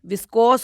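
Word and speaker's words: viscose: शादी हो जाएगी और मैडम कह रही है विस्को का विस्को एफ है ही नहीं उसकी जो स्पेलिंग है वी आई एस सी ओ एस ई विस्कोस होता है वो एफ नहीं होता उसमें विस्कोप नहीं होता पहले मैडम बोलना तो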